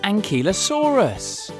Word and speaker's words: ankylosaurus: about the amazing Iguanodon now it's time for and Kela Soros how do you say that again and ki lo saw RIS how big was an ankylosaurus it was as